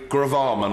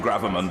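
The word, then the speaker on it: gravamen: the house has captured what Jack Straw used to call the Grove Armand of the Honorable gentleman's point I prefer the pronunciation gravimon but there you go counselor Thank You mr.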